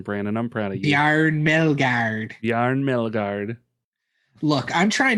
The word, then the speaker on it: Bjarne Melgaard: Some good pronunciation, Brandon. I'm proud of you. Bjarne Melgaard.